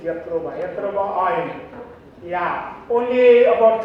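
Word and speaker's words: Jatropha: So-called Jatroba or Yatroba. This real pronunciation is Yatroba.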